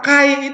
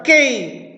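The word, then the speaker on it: καί: ya enggak apa-apa kadang-kadang ada orang yang ngotot Pak kata Kai itu harusnya dibaca ke k itu salah ke yang benar ya tergantung kita bacanya Ya tergantung cara bacanya Ya kalau apa namanya kalau itu adalah erasmian ya kita akan membaca dengan apa namanya dengan K Ya tapi kalau Saudara akan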